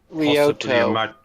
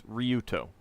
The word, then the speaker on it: Ryuto: Yeah, I tried to give as much information about him, saying that we believe he's Ryoto. Ryo. No, it's Ryuto.